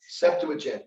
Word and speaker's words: Septuagint: The word for the Bible, how do you pronounce that? Septuagint.